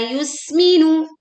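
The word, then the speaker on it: يُسْمِنُ: La yusminu. Memanjangkan la sepanjang dua harakat. Yusminu. Tekan huruf sin dengan membuat bunyi suruid yang tajam. Ya, suara suruid terdengar tipis yus.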